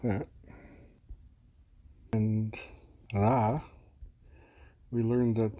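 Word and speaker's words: ら: And ra, we learned that the R syllable is not pronounced like R. It's pronounced like a half roll for a Spanish R, with your tip of your tongue on top of the roof of your mouth and back of your teeth, and as you breathe out, ra, ra.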